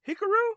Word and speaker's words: Hikaru: look up names wrong hikaru it's not hickory not pronounced i just say i call her exactly because it is hikaru i know it is